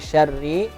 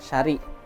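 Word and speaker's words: شَرِّ: Jadi aturnya syarri, terbacanya syari. Nah, hilang anunya sebuting roknya. Karena ro tasdid itu sebenarnya roknya 2.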